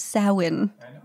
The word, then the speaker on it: Samhain: as brandon enjoys me saying samhain it is pronounced samhain he kept like it's like okay so is